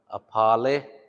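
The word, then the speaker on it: apali: Ha, apale. Make sure you say pa, not apa. Apale, pale.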